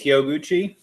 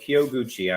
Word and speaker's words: Hyoguchi: far as your last name and if I mispronounce it uh you can punch me later brother but uh he'll yeah it's huchi okay huchi I'm half Japanese gotcha man and I know